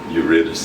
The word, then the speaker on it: Eurydice: Orpheus and Eurydice, or Eurydice, that's the way I pronounce it, but I think they pronounce it Eurydice here.